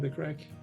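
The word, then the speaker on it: craic: And crack, do you know the term, the crack? The crack? Like C-R-A-C-K? No. C-R-A-I-C, we spell it in Ireland.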